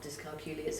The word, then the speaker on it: dyscalculia: One of the I always just say it rhymes with peculiar, but of course dyscalculic children are not peculiar.